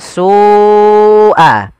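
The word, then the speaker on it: سوء: Karena pada lafal su awalnya dia dua harakat karena datang setelahnya huruf hamzah dan hamzah tersebut pada satu kata, maka kita namakan dengan mad wajib muttasil. Jadi kita membacanya seperti apa? sua. Sua ya dipanjangkan dahulu.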